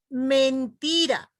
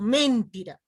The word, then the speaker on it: mentira: Por ejemplo, mentira, no digo mentira, ¿no es cierto? Digo mentira. Igualmente, mendigo, no digo mendigo.